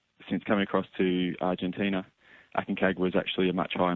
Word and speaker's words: Aconcagua: You pronounce it for me. Aconcagua. Aconcagua.